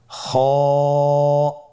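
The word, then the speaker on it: خ: খ হরফটির মাখরাজ হলো কণ্ঠনালীর শেষ ভাগ হতে উচ্চারণ করতে হয়, কণ্ঠনালীর শেষ ভাগ। আপনারা আমার সাথে বলুন খ।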